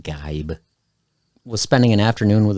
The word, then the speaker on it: Geib: 22 year old todd gibb guy i said gibb it's pronounced gabe was spending an afternoon